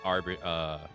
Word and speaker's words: arbiter: Its heroic embodiment is that of the prudent arbiter. Arbiter? Arbirator? Is that how you pronounce that? Rator. No, arbiter. Arbitrator.